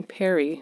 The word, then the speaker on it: Pari: Yes, so my daughter calls me Peri, which is spelled Pari, and it's short for parent.